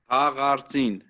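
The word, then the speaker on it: Haghartsin: How do you pronounce that again? Sorry. Hagartin.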